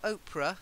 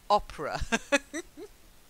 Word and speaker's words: opera: um first of all not Oprah Oprah is Oprah Winfrey opera opera opera opera you go to